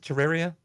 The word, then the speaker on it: Terraria: Is it Terraria? Is that how you say it? Yep.